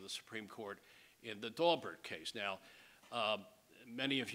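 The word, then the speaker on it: Daubert: most judges pronounce it dalbert uh a few snobs pronounce it doar um but it is in fact Mr Mr dobert pronounces it Dober and he should know um so U I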